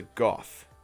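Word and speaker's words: گاف: the next one is a golf like Jared Goff a few no football the Rams quarterback and that has a G sound very simple the next one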